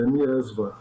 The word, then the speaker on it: Mierzwa: Bom, você pronunciou corretamente, é Miersva.